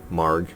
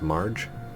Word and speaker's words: Marge: Obviously, Marg, which I was told I'm pronouncing that wrong. It's Marge, so it's Margaret.